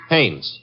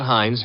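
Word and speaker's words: Haines: No, no, no, not Hines. Hannes. Couldn't be. Honeyberg. No, it couldn't be. The name is Hannes.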